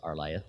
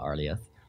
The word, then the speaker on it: Arlieth: introduce myself I am are liya it is pronounced our lieth and not arleth but I'm not gonna correct you I am